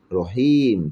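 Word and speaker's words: رحيم: মিম জের মি, হ্যাঁ, কিন্তু থেমে গেলে এখানে ওই জেরটার উচ্চারণ হয় না, রহিম থেমে গেছে।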